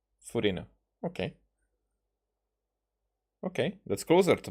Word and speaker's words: Furina: So, Furina. So they don't use English pronunciation because that will definitely be Furina. Furina.